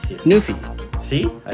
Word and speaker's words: NuPhy: Nofi.